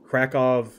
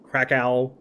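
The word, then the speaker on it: Kraków: court by the way I'm not 100 sure that in Polish double user pronounced as vs but I I think they are I think it's krakov Warsaw uh cat advice instead of Krakow Warsaw cata Weiss stuff like that but I might be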